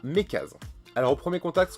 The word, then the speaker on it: MeckaZ: avec cette police aérographe, Mekaz ou Mekazen, moi je serais plus à le prononcer Mekaz.